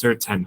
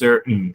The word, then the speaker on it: certain: Cái chữ này các bạn hãy đọc là certain hoặc là certain, các bạn nút chữ T để giúp mình cũng được. Thành certain đó mọi người.